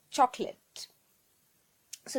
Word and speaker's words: chocolates: people saying chocolates or chocolate so the right pronunciation is chocolates only two syllable three chocolate chocolate third